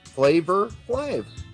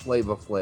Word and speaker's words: Flavor Flav: Flavor Flav was his name. It was not Flava Flav. It's just how you say it, though. That's how he said it.